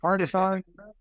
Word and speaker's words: Hartenstein: Then you come off the bench with McBride and all these other guys that I can't pronounce his name. I'm worse than Charles Barkley. Hartenstein.